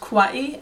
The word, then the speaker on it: Kauai: Hawaii Kauai offers to tourists the island of Kauai is actually pronounced Kauai and the native Hawaiian language and is the